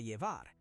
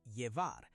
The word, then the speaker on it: llevar: If you want to take it with you, say "para llevar". "Llevar" is pronounced "yevar".